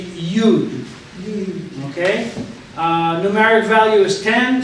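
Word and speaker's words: יוד: Next is the yud, and it is pronounced yud. You will see sometimes people call it yod, but it's too confusing with yad, which means hand.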